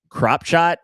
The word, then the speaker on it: Kropschot: Unfortunately, John Koonman gets caught in an armbar by Joseph Kropshot. And listen, I don't know if that's how you pronounce the name. It's spelled Kropschot. That sounds like Kropshot to me.